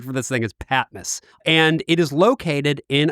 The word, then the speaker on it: Patmos: to be talking about today is called the patmas public library just want to clear that up that's the pronunciation I've heard a lot of different pronunciations